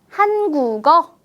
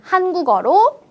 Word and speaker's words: 한국어: 다시 한번 살펴보겠습니다 볼게요 받침에 기억이 있습니다 그리고 뒤에 오는 음절은 어라는 모음으로만 이루어진 음절이 그래서 뒤에 있는 이응 비어 있는 초성 자리에 기역 자음을 빌려와서 채워 줍니다 그럼이 단어는 어떻게 읽을 수 있을까요 한국어라고 읽을 수 있겠죠 글자 그대로 한국어라고 읽는 것보다 한국어 어때요 훨씬 더 발음이 편하게 들리지 않을까요 그럼 우리 몇 가지